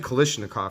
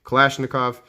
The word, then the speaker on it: Kalashnikov: it's a boker kalashnikov i've always said kalishnikov for some reason i don't know tell me if i'm pronouncing it wrong kalashnikov and um a spyderco